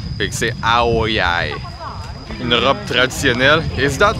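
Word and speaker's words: áo dài: Fait que la prononciation c'est Ao Dai, but it's Yai is like D-A-I. C'est pour ça que je me mélange un peu parce que les autres ils l'écrivent Ao, A-O, espace D-A-I.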